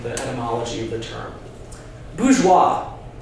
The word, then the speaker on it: bourgeois: Bourgeois, the first syllable, first syllable, bouge, right? Burger. Think about American cities. Pittsburgh, Harrisburg. It means town.